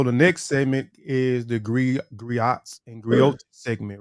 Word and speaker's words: griot: The griot, pronounced griot, have been referred to as historians and storytellers.